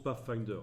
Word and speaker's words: Pathfinder: menu fenêtre pas facteur ça se prononce pas finder ainsi vous pouvez pour